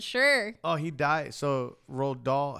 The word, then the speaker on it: Roald Dahl: Roald Dahl?